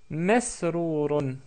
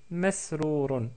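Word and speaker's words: مسرور: la deviner, à savoir c'est la lettre mim, donc on prononce ma avec la fatha, et on obtient, bien sûr les autres lettres sont évidentes pour vous, c'est masrourun, masrourun, ou masrour tout court.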